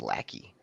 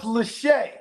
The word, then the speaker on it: Lachey: Maybe it's Lackey. 6'6", 250. He didn't even run a 40. It's Lackey until he proves himself. Redshirted, played 13. It's pronounced Lachey.